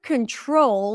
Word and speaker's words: control: In the word control, the primary stress is on the second syllable. Control. Control. Control. We don't say control, but control.